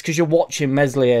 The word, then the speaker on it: Meslier: it's CU you're watching mesli a silent s you're not necessarily look